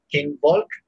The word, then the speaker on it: Kinvolk: Kinvolk, but it's pronounced with an S because it's German.